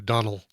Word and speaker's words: Domhnall: And can I correct you on the pronunciation, by the way? Donald Gleeson.